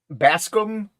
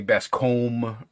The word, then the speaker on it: Bascom: pronounce your last name basum bass and then scum basum all right I